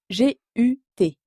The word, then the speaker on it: gut: Oui, gut, qui s'écrit G-U-T. Le U allemand se prononce toujours OU.